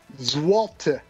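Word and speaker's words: złoty: Can someone make a phonetic pronunciation of that for me? What does Wikipedia say? Ooh, I can listen. Let's listen. Zwalte.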